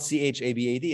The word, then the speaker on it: Chabad: But no, it's not spelled C-H-A-B-A-D. It's spelled H-A-B-A-D, Chabad. But it's got the dot under the H, which I'm thinking makes it from a ha to a cha or somewhere in between.